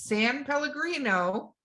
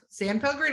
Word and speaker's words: San Pellegrino: drinking watch this Palace how you say it's San Pellegrino yeah Sam Pilgrim and that's how you say if you can